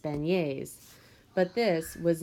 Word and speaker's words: beignet: eating in New Orleans they're called beignets pronounced beignets but this was not